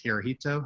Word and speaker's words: Hirohito: um eventually they kept well how do you pronounce this hirohito i think right so they um kept him